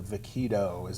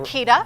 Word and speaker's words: vaquita: Also, another conservation effort you guys have going on is the vaquito. Am I pronouncing that right? Vaquita. Vaquita. Vaquita.